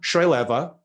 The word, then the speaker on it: Choyleva: global economy our special guest today is deanna srileva she is the founder and chief economist at